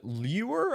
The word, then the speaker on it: Lueur: Builder indeed uh called lure I think it's pronounced l-u-e-u-r anyway as ever let's